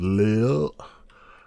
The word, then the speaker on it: Lade: I'm going to say it how they say it. It's Earls of Lade, Earls of Lille. So yeah, that does not look right to me.